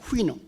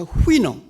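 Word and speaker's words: Houyhnhnm: 이 발음 보세요. 영어에 이렇게 자음이 6개, 7개 겹치는 경우가 없거든요. 모음 하나도 없이. 그래서 발음을 어떻게 할지 굉장히 아주 난감합니다. 그런데 대개 영미 사람들은 그걸 후이놈이라고 발음을 합니다. 후이놈.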